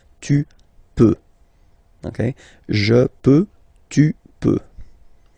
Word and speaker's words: peux: Okay, then tu peux. Same pronunciation and same spelling or writing. Okay, P-E-U-X. Okay, you don't pronounce the final X. Tu peux.